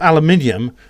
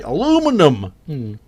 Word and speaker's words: aluminium: Then look up aluminium and check the pronunciation guide. You'll be amazed at just how wrongly you've pronounced it. Yeah, they say aluminum.